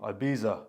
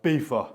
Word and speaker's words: Ibiza: I went to Ibiza or IFA, however you want to pronounce it.